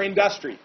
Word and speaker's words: industry: They need room to develop more industry. I said that oddly. Industry. I put the emphasis on the wrong syllable there for a second.